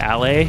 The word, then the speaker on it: aller: So ER in French is pronounced A, and it's at the end of all of their vowels. Or not vowels, sorry, verbs. So like aller is to go, but it's spelled A-L-L-E-R.